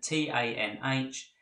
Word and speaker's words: tanh: is pronounced cosh; and the hyperbolic tan, which is written T-A-N-H and is pronounced tanh.